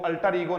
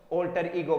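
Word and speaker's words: alter ego: अल्टर ईगो नहीं होगा, क्या होगा बोलो? ऑल्टर ईगो।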